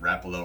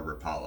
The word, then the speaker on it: Rapala: use storm vmc and depending on how you pronounce it rapo or Rapala I I vary between the two it used to be Rapala now it's rapo but they make a